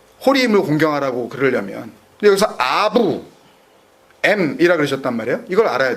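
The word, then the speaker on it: אב: 그러니까 아부라고 쓰고 알렙 베이트라고 쓰고 아부라고 읽고 아버지라고 이해를 해요.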